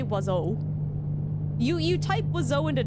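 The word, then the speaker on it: oiseau: I can pronounce most French words though. Like I can say wazo.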